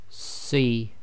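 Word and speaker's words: صِ: If we compare that to the letter Sad with the Kasrah, this one will have a proper full mouth. So we'll pronounce this as Si, Si. So you're making a full mouth, i.e. your mouth is almost round. Your lips are just about making a round circle.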